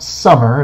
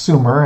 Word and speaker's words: Sumer: look at ancient Sumer it is not pronounced summer it is pronounced Sumer and it was the